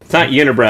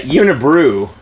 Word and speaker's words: Unibrew: It's I think it's not Unibrow. I think it's I always say it wrong too. I usually say Unibrew, but it's like what is it?